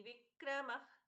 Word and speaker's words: विक्रमी: ईश्वरो विक्रमी धनवी मेधावी विक्रम क्रम अनुत्तमो दुरा कृतज्य कृतिरात्मवान ईश्वरो यहां पर भी ई दीर्घ विक्रमी धनवी मी दीर्घ वि दीर्घ मेधावी तीनों ही दीर्घ विक्रम क्रमः विक्रम ख